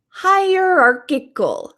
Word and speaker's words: hierarchical: is higher Aral o we have two different C's in this word my company is is higher like I'm going to climb higher higher AR c c so this sounds like a k higher Arc I another K hierarchical hierarchical and this means